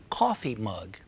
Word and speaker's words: coffee mug: And the first word is always pronounced stronger than the second. Light bulb. doorork knob, coffee mug.